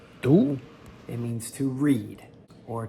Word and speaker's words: 读: Here's another character that can also be pronounced do, but primarily it is second tone du.